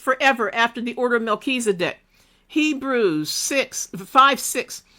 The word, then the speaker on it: Melchizedek: After the order of Melchizedek. Can't spell y'all. In the whole Bible. Yeah, I want to. Okay. Order. Sometimes it's spelled Malky. It's pronounced Malky and then Zedek.